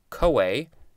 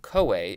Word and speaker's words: CoA: synonym acetyl coenzyme a so the co is from coenzyme and then the a is a so it's kind of